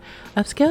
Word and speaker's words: Upscayl: The best part is that you can upscale multiple photos at once. So this app is called Upscale. It is spelled Upscayl.